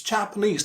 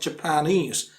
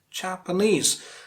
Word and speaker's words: Japanese: pronunciation of japanese it's japanese not japanese japanese ultimate syllable stress the last syllable stress ultimate means the last